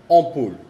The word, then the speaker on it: ampoule: Esas dos combinaciones también tienen la misma pronunciación, es on. On viene de la garganta. On, por ejemplo, ampoule, que es foco.